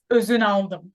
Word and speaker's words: Ozunaldim: you know Celine Dion but my last name is even tricky for Turkish people it's uzunaldo if you can't do